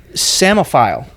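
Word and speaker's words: psammophile: you're going to try to say it it's semaphile do you guys want to attempt to spell that no I don't embarrass myself nope okay no it's actually p-s-a-m-e-m-m-o get that samaphile shouldn't be spelled that way what does it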